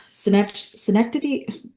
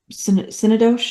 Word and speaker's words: Synecdoche: So in Manhunter, we have Tom Noonan, who's known for Schenectady. It's Synecdoche, New York. It is not Schenectady, but it's spelled weird also.